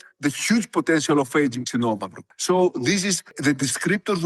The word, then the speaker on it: Xinomavro: me also how to say the word correctly, Xinomavro.